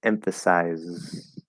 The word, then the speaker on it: emphasize: an s there because technically there's like kind of an s at the very very end but we hit that z first so it's emphasize emphasize okay um very very important because that sounds it sounds wrong if you do emphasize that's not a word now emphasis as a noun spelled s-i-s that is an s sound but emphasize is a z sound um analysis saying analyze